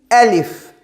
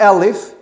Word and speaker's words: alif: We say the name is alif. Not alif. Alif. It's very important.